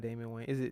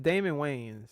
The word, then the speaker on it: Damon Wayans: Is it hold it not Damon Wayne? It's Damon Wayans. Yeah, Damon Wayans. That's how you say his name.